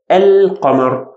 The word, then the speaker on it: القمر: So once we add this one, al-qamar, it will be only obvious in pronunciation whenever we start from it, a, al-qamar. But if we start reading from before, والقمر, it become silent. It will become silent, okay?